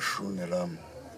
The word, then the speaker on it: Shuni Elamu: Shunelamu. Shun. Ok, C'est un c'est- nom musulman. D'accord, ça s'écrit comment?